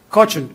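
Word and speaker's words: Kochen: a very famous theorem in quantum physics by Cochin and Specker. Am I pronouncing it right? Cochin or Cochin? Cochin. Cochin and Specker, which says that, well, if you're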